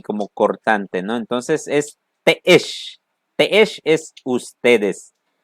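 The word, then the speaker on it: te'ex: Y el otro siguiente que son los teesh. Ustedes. Ustedes. Teesh, así se pronuncia.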